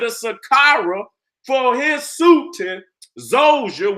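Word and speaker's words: Djoser: That Imhotep built the Pyramid of Saqqara for his sultan, Zoser, which is spelled D-J-O-S-E-R, Zoser.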